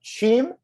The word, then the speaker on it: Cheam: to pronounce this correctly uh cheam yeah you got it okay good job there you go uh i was i was between that and team and i wasn't totally sure but uh so yes